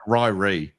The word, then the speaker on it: Ryrie: It's pronounced Riri, right? No, it's it's like Ryrie.